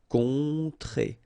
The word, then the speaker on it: rencontrer: Rencontrer. Alright, so keep in mind, en, on, on, rencontrer.